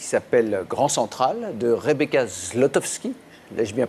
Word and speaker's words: Zlotowski: D'abord parce que, ben oui, vous venez pour un film qui sort mercredi, qui s'appelle Grand Central, de Rebecca Zlotowski. L'ai-je bien prononcé cette fois-ci?